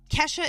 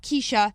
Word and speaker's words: Kesha: Kesha is Kesha. She said, my name is Kesha. Kesha. Not Keisha, not ketchup. Kesha.